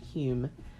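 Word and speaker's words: Home: name spelt H ome but it says it's pronounced Hume arrived there from America he had been practicing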